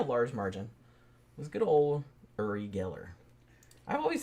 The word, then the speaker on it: Uri: by quite a large margin was good old Uri Geller. I've always said Uri Geller, but that's not right. It's actually Uri. Yeah, they wouldn't say that in America at that time. They called him Uri.